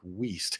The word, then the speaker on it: Wilst: Oh, well, by the way, my name is Wilst, pronounced with a long E like Weast.